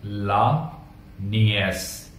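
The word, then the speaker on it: la nièce: The gneiss, the नीस को French में कहते हैं ला नियस, स्पेलिंग सेम है, बस ई के ऊपर में एसएन मार्क लग जाएगा और प्रोनाउंसिएशन हो जाएगा ए, ला नियस, ला नियस।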